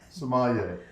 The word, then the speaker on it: sommelier: How do you say Sommelier? Sommelier. Okay, so there's so many people that'll come on and they'll say sommelier, sommelier. Say it one more time.